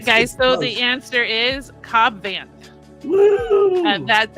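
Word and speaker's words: Cobb Vanth: So, the answer is Cobb Van.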